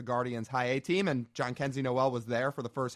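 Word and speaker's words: Jhonkensy Noel: to counter and say, can you say his name? John Kenzie. God, what's his last name? Noel. John Kenzie Noel. There we go. It is a really funky spelling, I will say.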